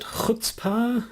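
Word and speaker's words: chutzpah: pardoned um because that's never quite sure how to pronounce it hutzpah is that how it goes that's basic yeah yeah that's right that's what roger stone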